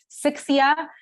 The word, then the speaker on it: Sixia: check this out he put the number six and together and gave me my name so it's pronounced sixia um this is uh